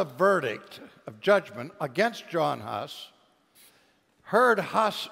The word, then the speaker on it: Hus: of judgment against John Huss heard Huss say, and the word Huss in Czech means, or Hus, as it is pronounced in Czech, means goose.